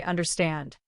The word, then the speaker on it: understand: Finally say understand. The stress is at the end.